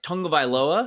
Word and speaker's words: Tagovailoa: us that excuse me, there's like an N in there, like Tagovailoa. There's definitely not an N in the word, right, but it's like it's truly a silent and invisible N that is in there.